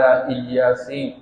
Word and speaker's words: الیاسین: چھوڑ دی، سلام علی الیاسین، کہ سلامتی کا نزول ہو الیاسین پر۔ یہ الیاس علیہ السلام کا ایک تلفظ وہی ہے الیاس، اور دوسرا تلفظ یہی ذکر کیا گیا ہے، اِنَّا كَذَلِكَ نَجْزِي الْمُحْسِنِينَ،